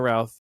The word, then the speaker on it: Routh: He was like, all right, well, my name's Brandon Routh, rhymes with South, and then he says that ever since he Okay, said that I always think that but.